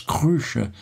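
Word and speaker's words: kreutzer: demanda un florin et 6 cruts on prononce cruch cela me parut cher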